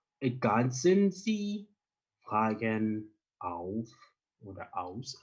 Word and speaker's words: ergänzen: So, remember, with umlaut, we're going to say ergänzen, so in this case, A of English. We're going to pronounce this as A. Ergänzen Sie. Z becomes C. So when you're pronouncing this, always look out for the umlauts and the Z. Z is not the same as the one we have in English. S will be pronounced as the Z in English.